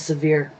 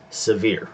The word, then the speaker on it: Sevier: Suburban Hillbilly says the pronunciation is Severe. Severe. Okay, thank you. I wasn't positive on that, so I appreciate that. So Sevierville, Sevier County.